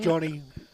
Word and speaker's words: Giovanni: Their team is Jack Blatherwick, Benjamin Butler, Matthew Day, who'll be opening the batting with Giovanni Di Bartolo. Interesting name, that one. Johnny Di Bartolo is the better pronunciation.